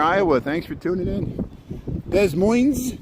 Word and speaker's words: Des Moines: Des Moines, how you doing there, Iowa? Thanks for tuning in. Des Moines? No, Des Moines. I gotta say it like the French, like Terre Haute.